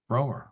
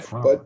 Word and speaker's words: Frommer: It's a long O. What? It's what? Romer. Fromer. Yeah. So, Not Frommer.